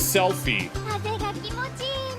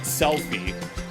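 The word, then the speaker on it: Selphie: Oh, and this is Selfie.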